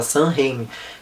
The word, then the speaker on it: Sam Raimi: Eu acho que é assim que pronuncia o nome dele, deixa eu ver. É assim que se fala, Sam Raimi.